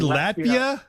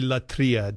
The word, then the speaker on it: latria: Wait, wait, you said Latia. Latvia. No, Latria. Latia. No, it's really Latria. Don't Don't uh don't follow Father Steven's Greek pronunciation. It's It's vaguely Arasmian.